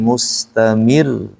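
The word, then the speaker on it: مستمر: surah alqamar ini ada Ro yang bertasdid dan ro yang tidak bertasdid ini bacanya bedakan di e di ayat 1 alqamar itu enggak ada ada tasidnya kan bacanya wyaqq qar biasa aja itu wyaqqal Qomar tapi untuk yang bertasdid nah Kita bedakan bunyinya jadi agak sedikit ditekan Wa yaquulu sihrum mustamir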